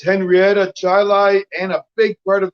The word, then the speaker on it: Chili: in New York, nothing is pronounced the way it's spelled in New York State. Part of his district is Chilai. That's actually spelled chili. It is. But it's Chilai.